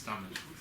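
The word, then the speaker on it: Tamás: I hope I pronounced it Yes. correctly. I don't. Yeah, it's Tomasz.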